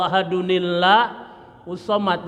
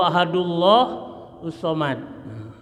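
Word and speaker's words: أَحَدٌ ٱللَّهُ ٱلصَّمَدُ: sama qulhuallah sih kemarin sama qulhuallahu ahadunillahus Somad Jangan dibaca qulhuallahu ahadullah Somad enggak boleh ya ya aturan bacanya yaitu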